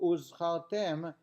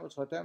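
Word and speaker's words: וּזְכַרְתֶּם: A hey being substituted for an ayin Similarly, one should take care regarding the pronunciation of the Zayin of Uzchartem et Kol Mitzvot Hashem, Uzchartem, and you should remember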